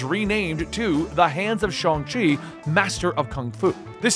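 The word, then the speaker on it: Shang-Chi: and yes i know for years we've all pronounced it shang chi and the movies and trailers are now pronouncing it chongqi known as the master of kung fu shongxi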